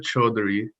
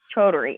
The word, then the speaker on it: Chaudhary: It's pronounced Chaudhary. Chaudhary.